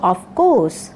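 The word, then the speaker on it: of course: এখানেও আর লেটারটি সাইলেন্ট, অর্থাৎ এর উচ্চারণ আমরা করব না, আমরা বলবো অফকোর্স।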